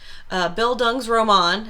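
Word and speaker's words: Bildungsroman: so there's the phrase it's german bill dung's roman is how you say that uh roman is german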